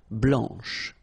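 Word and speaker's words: blanche: and then blanch okay remember when you combine this C you get the sound sh blanch okay so BL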